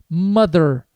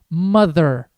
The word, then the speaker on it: mother: mas Resumindo a história a pronúncia correta dessa palavra é mother mother do inglês britânico é